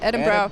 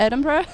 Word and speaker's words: Edinburgh: I'm not pronouncing it. It's Edinburgh. Edinburgh.